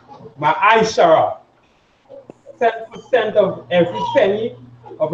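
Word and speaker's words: ma'aser: It means tenth in Hebrew, and is pronounced Ma'aishara.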